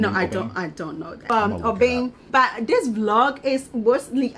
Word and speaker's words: Obeng: Obeng. But this vlog is mostly about when people pronounce your name and you know they are murdering.